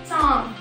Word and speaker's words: চাঁদ: চন্দ্রবিন্দু আকার দ চাঁদ, চাঁদ আমরা কিন্তু চাঁদ বলি না, চাঁদ খেয়াল করো একটু, চাঁদ চাঁদ, তাই তো? তো নয়ের সরি নাকের একটা প্রয়োজনীয়তা মানে নাকের প্রয়োজন হয় যদি আমরা চন্দ্রবিন্দু সঠিকভাবে উচ্চারণ করতে চাই, ঠিক আছে?